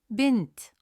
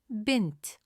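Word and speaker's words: بنت: Bent. Bent. Did you notice the short pause in the middle? That's a sun letter noon. It holds the sound in place. Say the word again. Bent.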